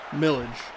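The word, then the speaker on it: Milledge: Lastings Milage Millage. That D is silent.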